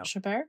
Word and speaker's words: Chabert: kept very true to Lacey, I can never pronounce her last name. Yeah, but, you know, Chabert? Yeah. Chabert.